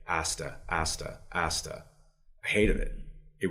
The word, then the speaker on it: Asta: And one day somebody had said to me, Asta, like pasta.